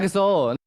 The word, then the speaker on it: EXO: 但是我那种跟你风格不太一样，我就喜欢 XO。